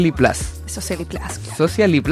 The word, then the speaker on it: SociaLi Plus: Social Lipl. Así. Esa es la pronunciación correcta. Sí, esa es la es como medio spanglish. Como tiene un poco de todo. Yo iba a decir Social Little Plus, pero no, no, Lithium.